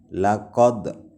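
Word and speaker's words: لَقَدْ: Qalqalah artinya memantulkan ya. Di situ ada huruf dal dan ada huruf qaf. Seperti ini cara membacanya, laqad.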